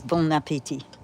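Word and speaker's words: bon appétit: Because it is bon appetit. The T is silent.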